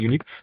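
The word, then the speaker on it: unique: तो यूनिक जो है ये यू से स्टार्ट होता है, तो इसका साउंड जो है वाई का निकलता है, यूनिक।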